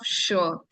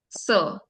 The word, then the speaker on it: sure: First and very common one is uh the pronunciation of sure. Okay, so you tend to say sir.